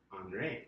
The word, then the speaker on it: Henri: Looks kind of like Henry. Pretty sure you pronounced that Henri, right?